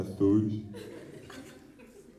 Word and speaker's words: Açores: Quer dizer, dos Açores. Me falaram que a pronúncia correta era essa, Açores.